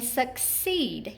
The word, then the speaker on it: succeed: And then succeed, you can hear that long E accented in our second syllable.